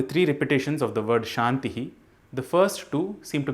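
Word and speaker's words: शान्तिः: This word ends with a symbol denoted by two dots. This is called as Visarga, which literally means an expulsion of air. It is not the sound Ha, which is a different consonant in itself. When this Visarga comes at the end of a vowel, the expulsion of air takes the same sound as the vowel itself.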